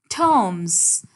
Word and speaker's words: terms: Terms. British English में we do not pronounce R, लेकिन American English में